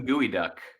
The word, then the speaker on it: geoduck: Well, I would pronounce them Gooey Duck.